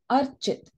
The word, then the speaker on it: Archit: This one is Archit. Archit, the name also sounds like the word arch.